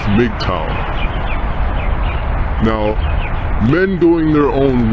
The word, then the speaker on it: MGTOW: going their own way our acronym is MGT W which is pronounced mtow now men going their